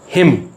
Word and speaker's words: hymn: ऐसे अल्फाज जिनके आखिर पर MN आ रहा हो तो N साइलेंट हो जाता है, like autumn, column, hymn, HYMN, condemn, solemn, SOLEMN.